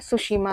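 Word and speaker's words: Tsushima: तरफ यहां पर है सुसीमा धारा टीसी टीसी इसलिए क्योंकि टी साइलेंट है यहां पर जो नाम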